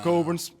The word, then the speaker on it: Cockburn: So, the CK is not pronounced because it's a the Scottish name. So Coburn's again two brothers back